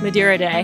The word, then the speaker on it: Madeira Day: Madeira Day.